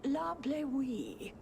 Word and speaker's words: La Bleuie: There's a wine called La Bleuie. That's how you say it.